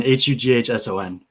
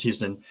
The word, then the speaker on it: Hughson: Hughson. Okay. Yeah, Houston. Everybody thinks it's Houston.